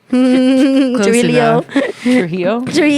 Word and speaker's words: Trujillo: Trujillo. triilo. But it has L's in there. No. No. Huh? It has L's in there, but you don't pronounce them.